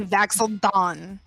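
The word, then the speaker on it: Vax'ildan: It's Vaxel Dawn. It's actually Vaxel Don. Vaxel Dawn.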